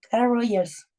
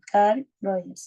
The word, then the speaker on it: Carl Rogers: de este enfoque es Car Roger, perdón, Carl. Oh, no lo puedo pronunciar bien. Car Rogers. Ahí sí, Carl Rogers.